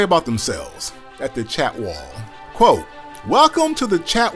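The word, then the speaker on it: Chatwal: Let me pronounce it correctly. The Chat Wall, a luxury collection hotel under the Marriott Bonvoy brand, of which I am a member.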